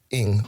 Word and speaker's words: Ng: And then, so the last name should be, the Chinese spelling is Ng or pronounced Ing.